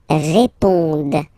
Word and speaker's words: répondent: Ils répondent. So, same thing. Here, classic ending, E-N-T, but then you don't pronounce it.